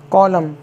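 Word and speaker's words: column: होता है सी ओ एल यू एम एन कॉलम इसको आप लोगों ने पढ़ा ही होगा कॉलम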